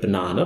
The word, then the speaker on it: banana: If you take the word banana, my favourite word, it's emphasised in the middle. bəˈnaːnə It's not emphasised because it's a long vowel. It's actually just- English says that syllable has to be strong.